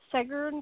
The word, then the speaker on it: Seggern: susan vaughn and i i'm pronouncing seger but you'll have to correct me when you get on here that's right and she's one of